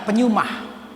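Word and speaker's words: πνεῦμα: Roh di sini dalam bahasa Yunani pneuma tulisannya, bacanya pneuma.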